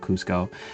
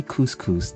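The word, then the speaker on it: Kuzco: Uh shout out Cusco. And uh see, I said it right. You thought I was going to say couscous.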